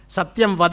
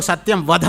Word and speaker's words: ಸತ್ಯಂ ವದ: ಸ್ವಲ್ಪ ಉಚ್ಚಾರ ಮಾಡುವಾಗ ಅಲ್ಪ ಪ್ರಾಣ ಮಹಾಪ್ರಾಣದ ಕಡೆ ಗಮನ ಇದ್ದರೆ ವಾಸಿ, ಇಲ್ಲದೆ ಹೋದರೆ ಪ್ರಾಣ ಹೋದಂಗೆ ಆಗುತ್ತೆ. ಅಲ್ಪ ಪ್ರಾಣ ಮಹಾಪ್ರಾಣ ವ್ಯತ್ಯಾಸ ಆದರೆ ಸತ್ಯಂ ವದ ಅನ್ನುವಾಗ ಸತ್ಯಂ ವಧ ಅಂದರೆ ಈಗ ಅದೇ ತಾನೇ ಆಗ್ತಾ ಇರೋದು.